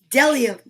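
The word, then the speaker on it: bdellium: b o is for dellium we doubt anyone knows what dellium is but it's the only word dumb enough to begin with a silent b dellium now let's just check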